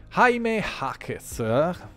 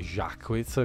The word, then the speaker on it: Jaime Jaquez: Jaime Jaquez, ma detto all'americana, dopo se si pronuncia magari alla spagnola potrebbe venire fuori Jaquez, comunque Jaime Jaquez detto all'americana Junior, è scelto dai